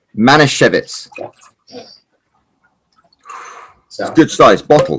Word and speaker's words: Manischewitz: Now, how do you pronounce it? Manischewitz. Manischewitz.